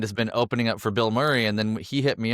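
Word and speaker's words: Bilmuri: There is a band called Bill Murray. I'll look into that. Oh my god. Okay. Funny. is a band. So, they they spell it differently. It's B I L M U R I, I think.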